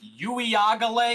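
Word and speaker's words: Uiagalelei: know about DJ I think yui AAL is how you actually pronounce his name yag uele it's yeah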